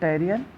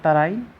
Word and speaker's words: तराइन: इसको प्रोनाउंस करने का तरीका बैटल ऑफ टैरियन या फिर बैटल ऑफ तराइन।